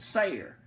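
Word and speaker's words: Seir: mount sire sei Ark you can pronounce it ser mounts IR is how I normally say it but you can say it the other way or any other way you want to but sire also is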